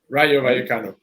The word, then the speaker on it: Rayo Vallecano: pronounce that? Sorry. Rayo Vallecano.